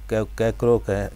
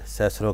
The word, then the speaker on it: Cicero: وہ کہلوانا چاہتے ہیں۔ مثلاً سکول کے لڑکوں سے یہ کہنا کہ وہ ایک لفظ کیکرو کہیں جبکہ اپنی باقی تمام زندگی میں وہ اسے سیسرو کہیں گے۔ یعنی اس نے مثال